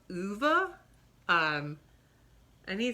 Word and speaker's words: Ove: a man called old which i think is supposed to be pronounced uva um and he says